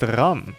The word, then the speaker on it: Rem: Also, it's pronounced Ram. This is Rem, this is Ram. Know the difference.